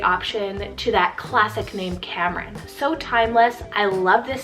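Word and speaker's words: Kamran: i have for you guys is the name cameron k-a-m-r-a-n or i can do like camron you know a little bit of that different pronunciation there it means prosperous or successful so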